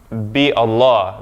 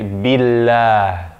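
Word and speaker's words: بالله: For another, we don't say bi Allah, billah, billah. We say billah.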